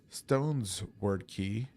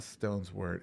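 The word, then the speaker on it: Stonesword Key: get a free uh stones word key or wait is it wait knows I say it wrong. It it's not stones word. It's stone sword key.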